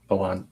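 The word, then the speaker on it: Pallante: Palante. Is it? They pronounce the L, don't they?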